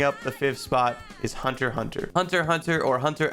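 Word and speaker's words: Hunter × Hunter: other person taking up the fifth spot is hunter hunter hunter hunter or hunter x hunter if you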